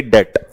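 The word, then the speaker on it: debt: insolvent unable to पे डेप्ट इसमें B silent रहता है तो इसे डे कहते हैं डेप्ट डे मतलब ऋण कर्जा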